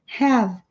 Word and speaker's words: have: Como esse E não é pronunciado, a palavra termina com som de V, have. E esse V emenda com o N.